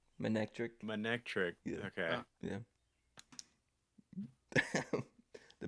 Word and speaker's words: Manectric: Basically, it's not manatey. Manectric.